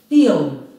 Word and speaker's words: film: Treća reč je jednosložna. Film. Akcenat je na i. Film.